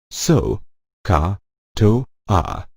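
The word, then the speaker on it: SOHCAHTOA: at the bold letters they form a mnemonic su carto it is pronounced so car - ah the so stands for sine of an angle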